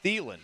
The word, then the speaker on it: Thielen: you've shamed Ra Fidapaldo into going back to Thelen and not sticking with Adam Teal? Yeah, but I think Joe and I did the right thing there because that's how you say his name. It's Thielen.